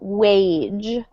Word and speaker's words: wage: just one note um this word is a soft G so wage wage um great so thank